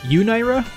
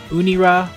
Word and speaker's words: Unira: ended up going with Unra, but I understand that if we wanted to stick closer to the Japanese pronunciation, I should just say Unira or Uni or something.